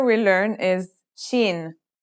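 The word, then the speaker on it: شين: letter we learn is Sheen this one is pronounced just like the English sh in the word shovel this one is very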